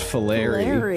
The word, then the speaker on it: Fillery: It's pronounced Fillery.